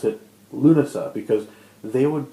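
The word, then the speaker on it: Lughnasadh: time to pronounce it lunasa because they would pronounce it lunasa with the SH sound and the stress on a different syllable and so I mean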